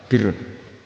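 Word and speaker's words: بِرّ: Ya kalau di isim fa'ilnya umumnya guru-guru kita baca barin, tapi untuk masdarnya untuk kebaikan bacanya apa? Birun. Nanti kamu protes, oh barun itu daratan Gus, kalau birun itu kebaikan.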